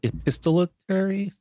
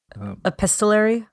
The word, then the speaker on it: epistolary: what's the genre called epistolitary epistolary epistolary yes I added an extra syllable there again not not myself in